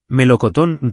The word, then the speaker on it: melocotón: Melocotón termina en ton, melocoteo con acento N.